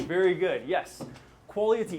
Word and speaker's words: QUALIaTY: This guy, we're going to say QUALIA. Very good. T. Very good. So together it is QUALIaTY. Very good. Yes. QUALIaTY.